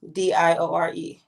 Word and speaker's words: Diore: Diore.